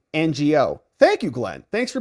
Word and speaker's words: Ngo: us Glenn Croy says Andy NGO is pronounced like this Andy NGO thank you Glenn thanks